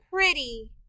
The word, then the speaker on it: pretty: pretty ee pretty the e in this word we need to remember by heart it's making a short i sound the y in this word is a part of the sound spelling patterns y at the end of a two syllable word makes an e sound the word is pretty